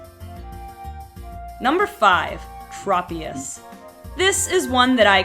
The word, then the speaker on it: Tropius: i'm probably gonna say it wrong number five Tropius this is one that I completely forgot about